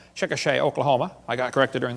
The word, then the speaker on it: Chickasha: 2004 textbook still has 2005 textbook and I pronounced it wrong as Chickasha not Chickasaw Chickasha Oklahoma I got corrected during the break still